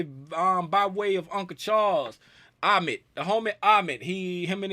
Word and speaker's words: Ahmed: name, cause he said if you playing tag with somebody and they come up and tag you, who's it? And I said Ahmed. He said that's how you say my name.